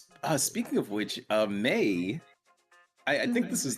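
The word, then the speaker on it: Mae: it's the same meh it's spelled m-a-e yeah m-a-e and then they put in parenthesis parentheses pronounced May m-a-y okay that's that's just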